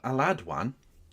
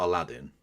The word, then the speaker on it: Aladwan: Raala Aladwan has not Aladdin I haven't just mispronounced that.